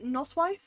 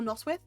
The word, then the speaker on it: noswaith: You could say for like Noswaith or Noswith, you can say either or. I just say Noswith because it's easier for me, but I think the original pronunciation is Noswaith because the AI noise makes a wyth, makes like an I sound.